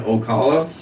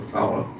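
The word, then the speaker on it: Ocala: Funk was the coach of the Funking Conservatory Professional Wrestling School in Okala, Florida. I believe that's how you pronounce that. It's either Okala or Wasala, one of the two.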